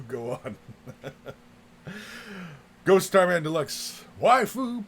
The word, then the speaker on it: waifu: Waifu, pronounced waifu, is basically a hot anime girl that you like.